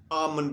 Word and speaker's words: almond: گیا، بادام کا نام۔ آلمنڈ نہیں، ایل نہ بولا کریں، لکھنے میں آئے گا، ہاں سپیلنگز میں آئے گا ALMOND، ٹھیک ہے، لیکن پڑھیں گے جب تو آمنڈ کہیں گے۔ جی ناظرین، تو بڑھتے